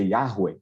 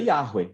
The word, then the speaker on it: Yahweh: Esse tetragrama sagrado, nós não sabemos a pronúncia corretamente, os judeus evitavam falar para não cair no pecado de tomar o nome de Deus em vão, mas basicamente, provavelmente a pronúncia mais correta seja Yahweh, algo dentro disso.